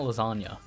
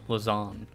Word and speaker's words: Lasagn: an incomplete word because it's not lasagne it is lizand which just feels weird to attempt to pronounce but we got a